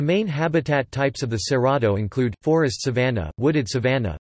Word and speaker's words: Cerrado: The Cerrado, Portuguese pronunciation, Cerrado, is a vast tropical savanna ecoregion of Brazil,